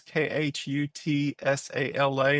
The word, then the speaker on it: Khutsala: So Kutsala is Khutsala, and it means hardworking in Siswati.